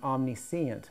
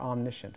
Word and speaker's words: omniscient: Omni om all knowing om omnicient omniscient God or omniscient is how you say it and thought wow is